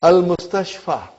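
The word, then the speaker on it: المستشفى: It is a Ya. Without dot. Remember there is no dot. It is Ya, but it is pronounced as Alif. It's called Alif Maksura.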